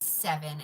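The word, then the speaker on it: Sevyn: This is seven and it's spelled weird. S E V Y N.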